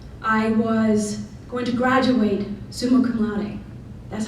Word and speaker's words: summa cum laude: I was going to graduate summa cum laude. That's how you pronounce it, by the way.